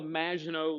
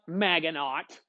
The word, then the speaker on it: Maginot Line: included something called the Maginot Line. All right, and that's how you say it in French. It's not Maginot. Sound like a darn fool hick when you say it like that.